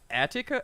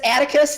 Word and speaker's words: Atticus: can say it right attica atticos atikos i don't know how to pronounce it it's atticus like that just like the uh you know like atticus finch oh okay right it's